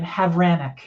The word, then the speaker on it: Havranek: here with I love last name havranic I love that last name did I say